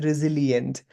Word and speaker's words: resilient: अब यहाँ couple of words ले झुकाइदिन्छ यो resilient होइन साइलेन्टमा त SILENT हुन्थ्यो यहाँ त LIENT छ भन्छ यो लिएन्ट तिर जान्छ this is resilient.